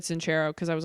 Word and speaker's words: Sincero: I think it's Sincero. I think that's how she, because I got the audiobook. Oh, okay. And I think she said Sincero because I was like, huh, that's not.